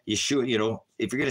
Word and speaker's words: Yeshua: he's got the his name his name is Yeshua Yeshua you know if you're going to spell his Hebrew name spell it without any vows why H VH YH